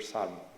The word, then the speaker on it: Salmon: The only ambiguity is at the end with this silent L here, Salmon.